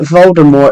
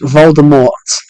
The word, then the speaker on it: Voldemort: the silent T yeah it should have been a silent T but then they got